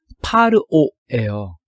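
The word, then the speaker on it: פרעה: 그래서 이제 지금 첫 번째 단어를 우리가 배우고 있는데 히브리 말로는 파르오예요.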